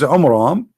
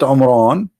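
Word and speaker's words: Amram: So Muhammad, he could not even copy the name correctly from the Bible about the father of Moses, which is Umram, not Umran. Imram. Wrong pronunciation, wrong name.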